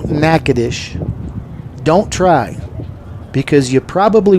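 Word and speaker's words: Natchitoches: Northwestern State in Nacadish, Louisiana. And if you don't know how to spell nacadish, don't try because you probably won't be close.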